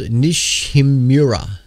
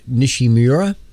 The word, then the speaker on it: Nishimura: of September uh now the a comment called nishimura I think that's how you would pronounce that a comic called nishimura discovered just a month ago could be visible